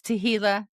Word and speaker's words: Tehillah: It's Tehillah on the very last page of my book for 440. Nice. Yes. Specific. Yes. I love it. Ray Hughes says rhymes with tequila.